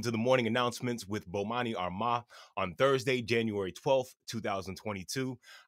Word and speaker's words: Bomani Armah: I'ma say my name so you can pronounce it. Bomani Armah.